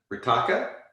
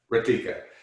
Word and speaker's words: Ritika: And I think I'm going to say her name wrong, but Ritaka? I said it wrong. Ritika.